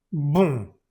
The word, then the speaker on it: bon: Aquí lo tenemos, ON o también OM se pronuncia con la boca muy cerrada, mucho más cerrada que en español. Entonces esto se dice bon. No pronuncias esa N, solo es la B con el sonido nasal. Bon, bon, y luego la